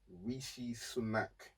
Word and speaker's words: Rishi Sunak: Let me pronounce his name. It's impossible to remember that guy's name. It's actually impossible. It is Rishi Sunak.